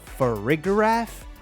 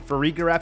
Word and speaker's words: Farigiraf: Farigiraf, I think is how they pronounce it.